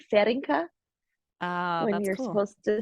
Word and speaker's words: Feringa: common name it's my my Mom was adopted by a Dutch person so it's a Dutch name which is cool is it but so it's like ferrinka uh when you're supposed